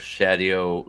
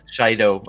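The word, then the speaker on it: Shaido: And there's practically no Rand, practically no Matt, a lot of Shadow. I always pronounce it wrong. Shido. I don't know why I say Shadow.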